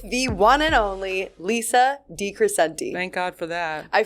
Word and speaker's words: DeCrescente: today I am here with the one and only Lisa DeCrescente. Thank God for that. I finally pronounced her last name right.